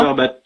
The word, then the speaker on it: Cumberbatch: Cumberbatch. Benedict Cumberbatch. Le fameux. Tu le prononces bien.